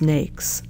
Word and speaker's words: NAICS: overview of the North American industry classification system pronounced NES NES was developed cooperatively by the governments of